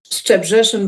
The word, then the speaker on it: Szczebrzeszyn: So, and I've been there, so I know how to pronounce it. Szczebrzeszyn by Stephen Schwartz sounds very good.